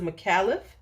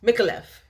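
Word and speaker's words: Micallef: hit the house of micallith micholeff make a left make a left let me say it right this is night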